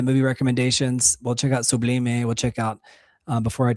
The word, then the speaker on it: Sublime: It's pronounced Sublime.